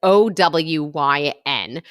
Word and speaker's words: OWYN: about own protein shakes so I think that's how you say it it's O Wyn shout out to Lizzy